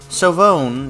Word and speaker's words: Silvone: sprained though author's note silvone is pronounced with both O's long it's what happens when you swap the e's in seven with long O's phonetically 007 in a